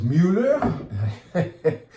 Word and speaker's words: Müller: This is Müller, rhymes with Bueller, and it is clean,